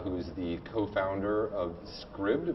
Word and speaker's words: Scribd: is the co-founder of Scribd which rhymes with ribbed and uh which is